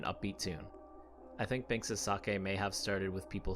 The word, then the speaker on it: sake: common with finnegan's wake sake spelled the same as sake rhymes with wake finnegan's wake is a